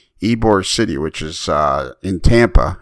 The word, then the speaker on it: Ybor: to that place but apparently I was pronouncing it libor City and it's not why boy it's Ybor and I'm like I'm